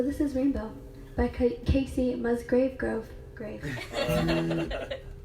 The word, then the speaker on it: Musgraves: I just forgot it Kacey Musgraves Musgrove I always say her last name wrong grave I'm sorry Casey you're